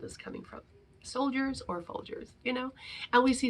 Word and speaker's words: Folgers: coffee and that coffee that brand is called folgers and it rhymes with soldiers right and that's why